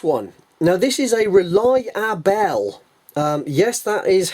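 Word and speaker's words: Rely-A-Bell: come across this one now this is a rely our bell yes that is how it is spelled r e l y hyphen a hyphen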